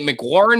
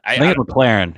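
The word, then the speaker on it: McLaurin: and by the way am i pronouncing that right is it mc warren or mclaren mclaren from mclaren mclaren okay yeah so he's he's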